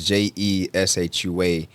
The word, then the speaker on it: Jeshua: It's Jeshua. Isaiah, Isaiah. So people may look at my name and be like, how do you pronounce it? So it's Jeshua, but my name means Jesus in the Hebrew.